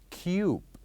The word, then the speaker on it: cube: for the first word it is it is pronounced as cube Cube and also the last word here we